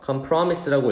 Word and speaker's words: compromise: 그래서 협상 좀 비슷한 단어로는 우리가 이런 걸 이렇게 쓰는데 자 이거 어떻게 읽을까요? compromise라고 읽을까? promise가 있으니까 이것도 발음이 compromise일지 아니죠? 자, 이거는 compromise라고 읽습니다. compromise 강세를 앞에다가 이렇게 줘야 되겠고요.